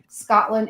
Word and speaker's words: Scottlin: is spelled, Scottlin, S-C-O-T-T-L-I-N, not like the country.